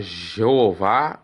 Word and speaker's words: Jeová: E que quer dizer, pode se pronunciar Jeová ou Javé, mas como eles não pronunciam, até é difícil dizer como que é pronunciado isso.